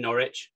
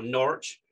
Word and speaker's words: Norwich: at a consultancy in norwich or norwich using a single syllable as the locals might say at the turn of